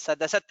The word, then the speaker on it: सदसत्: We have to pronounce all the letters. Sadasat takara is there.